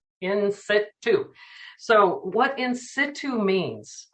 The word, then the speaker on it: in situ: go to the bank they cannot pronounce it they say institute and i'm like no in situ so what in situ